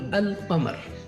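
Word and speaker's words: القمر: In the moon letters, the lam of al is pronounced. For example, al-qamar.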